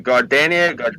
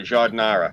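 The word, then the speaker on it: giardiniera: because of my accent i was mispronouncing it and uh what is it it's the the gardenia jardinara jordanara that's it the jardinara yeah yeah i would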